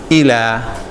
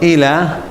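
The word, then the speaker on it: إلى: of Aleph so we say I mean we pronounce it as ela so ela I'll leave Oh see the next said that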